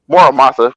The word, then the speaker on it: Muramasa: I butchered the name the first time. Muramasa, with the blade, the Muramasa blade is named after.